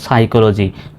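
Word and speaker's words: psychology: তবে এটার সঠিক উচ্চারণ হলো সাইকোলজি মানে মনোবিজ্ঞান। এখানে সিএইচ এর উচ্চারণগুলো কর মত হবে।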